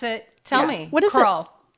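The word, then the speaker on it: Krull: spell the name you grew up nobody could pronounce it tell me crawl k r u l l crawl crawl crawl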